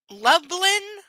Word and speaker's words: Lublin: Lublin. And no, I'm not mispronouncing Dublin. It says Lubland. L U B L I N was a lot smaller than Warsaw.